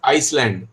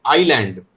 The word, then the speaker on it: island: Beta, Shrimal, do not pronounce this word as Iceland. It is island. S is silent, okay?